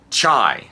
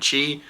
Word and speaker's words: Chai: 16 is a game called chai now I mispronounced it in the um my review kept calling it chi I have no idea